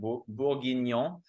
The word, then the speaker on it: Bourguignon: So wine number 3 here so this is the Marchand-Tawse Coteaux Bourguignon. That's how you pronounce that. Bourguignon.